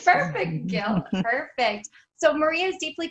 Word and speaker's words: Gehl: Is that how you pronounce it? Yeah. Okay, Gehl. perfect, Gehl.